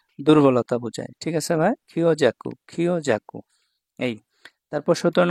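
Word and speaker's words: 強弱: আর এটা হচ্ছে দুর্বলতা বুঝায় ঠিক আছে ভাইয়া খিও জাকু খিও জাকু এই তারপর 17 নাম্বার কাঞ্জি এটা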